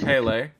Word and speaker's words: Pele: picked the god hey is it is it Pele is that how you pronounce it sure alright sure well I'm gonna save Pele Corona picked Pele the goddess of volcanoes and